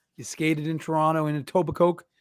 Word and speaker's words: Etobicoke: I'm just saying it's a tobacco right like a silent k i just well I I went I went with the etoba instead of tobacco I think it's a tobacco if I had to pronounce it I would say Etobicoke yeah I've got you